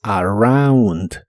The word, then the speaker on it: around: La R de inglés es muy suave y la combinación OU muchas veces se pronuncia como AU, así que es around.